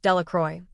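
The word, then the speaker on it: Delacroix: Jones and Dicky Delroy the villagers pronounced this named delacroy eventually made a great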